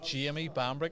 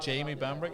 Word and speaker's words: Jamie Bambrick: b a m b r i c k jimy bamri is how I'd pronounce it Jamie bamri is how the Americans would pronounce it so